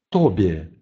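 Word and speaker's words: tobie: Например, слово «тобе», «тобе», «тебе». «Б» в слове польском «тобе» произносится точно так же, как «б» в русском слове «тебе».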